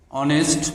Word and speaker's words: honest: H is not pronounced as H. So before the word we must use article N. Honest man.